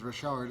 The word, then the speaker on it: Richard: tremblay canadian man uh that's why the pronunciation is rashard instead of richard right and anyway what